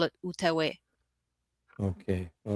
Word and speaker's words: Outaouais: Can you spell it? Because I don't. Yeah, it's Outauais. Oh, okay. Sorry, that's Outaouais.